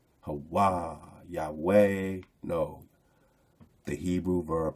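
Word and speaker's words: ה: It's not pronounced hey, it's ha.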